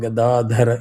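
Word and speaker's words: गदाधर: Whenever you have the hard and soft syllables, mentally give a pause, slight pause to flip it. If you try to do it without practice gadadhara, you will always say the opposite.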